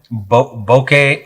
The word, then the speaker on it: bokeh: Bokeh or so it's a Japanese word. It's actually pronounced bokeh.